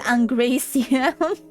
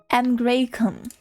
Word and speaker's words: Angraecum: So it wasn't Angraecium. Angraecum.